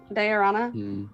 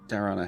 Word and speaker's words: Diorana: Diorana. Diorana. Because it was like Diorothra with a different right. 2 syllables.